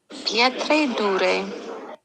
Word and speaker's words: pietra dura: Pietre dure. Oh, of course. Did you hear that? Yeah. Pietra Dura.